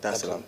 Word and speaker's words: Dar es Salaam: Did I pronounce that right? Yeah. Dar es Salaam.